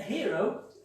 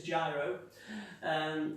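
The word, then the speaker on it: giro: A hero is spelled with a G. A lot of people, for the first time, see it written and pronounce it as gyro. It's G-I-R-O.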